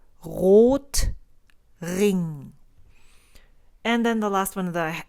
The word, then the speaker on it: Rotring: And so you would pronounce that word as Rotring. So it's not an R sound like Rotring. It's Rot, and the O is an O. It's O, Rotring.